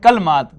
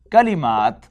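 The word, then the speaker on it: كلمات: So you won't call it kalmat, kalimat.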